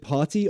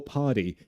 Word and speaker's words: party: Is it party or party? American English, party. Party. They pronounce T's like D's.